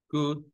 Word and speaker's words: could: La L no se pronuncia.